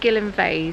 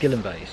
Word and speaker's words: Gyllyngvase: We've been calling it Gilly cuz that's what the locals kind of call it. It's actually Gillan vase. Gilves. Yes. And it's spelled in a very peculiar way to our Cornish language.